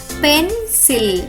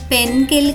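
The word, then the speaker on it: pencil: మరియు పదం యొక్క ఉచ్చారణ అవుతుంది పెన్సిల్. పెన్కిల్ కాదు, పెన్సిల్.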